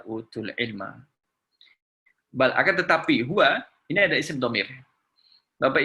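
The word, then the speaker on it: هو: Bal akan tetapi huwa ini ada isim dhamir. Bapak Ibu kalau misalkan huruf dhamma sama fathah ini dibuang, kalau ada ha sama waw bacanya adalah huwa. Huwa, tetap huwa.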